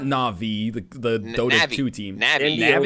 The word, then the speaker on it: Navi: link you would be Navy na nav na'vi Navi Navi like like navigation there's way too many